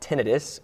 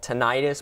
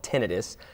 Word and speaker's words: tinnitus: notice what's it called it's called tinnitus it's often called tinnitus but that's a slight mispronunciation so it's called tinnitus and that's when you